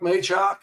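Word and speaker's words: Machock: How do you say that guy's name that does the color commentary for UC radio? I'm like, Chuck Maychuk. And they're like, okay, it's Maychuk.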